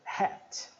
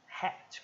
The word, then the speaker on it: hat: do rr né então hat hat com e bem apertado lembra Hat Aquele é glotal Hat é chapéu é